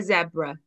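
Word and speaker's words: sebra: And then the last animal that we saw before we got on the plane was a zebra. Now in Welsh, that's zebra with a s sound at the beginning.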